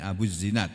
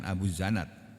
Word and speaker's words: Abu Zinad: Nah ini bacanya benar nih. Abu Zinad bukan Abu Zanad.